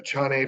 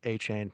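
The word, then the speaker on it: Achane: I believe it's pronounced A-Chain, but I could be wrong. A-Chain? Yeah, it's like, like what they put around their necks, Okay.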